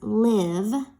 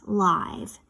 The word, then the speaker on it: live: So in our story that we're going to read today, this word that we're going to build is actually pronounced as live, not live.